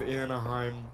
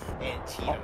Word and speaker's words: Antietam: Ghost of Anaheim, hosted by 4th New Jersey. Yep. Sure. We'll call it that. Anaheim. Antietam.